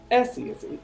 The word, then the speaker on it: Esi: Essie, it's ESI. And the last name? The last name. Kajana. Say Can you spell that?